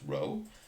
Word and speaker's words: rho: greek letter rho so again right this is pronounced row it is a greek letter if it's a